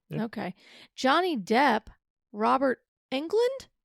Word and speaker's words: Englund: Johnny Depp, Robert Englund? It is England.